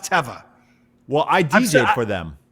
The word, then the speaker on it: Teva: both said it correctly nobody knows that it's pronounced teva well i dj for them i know that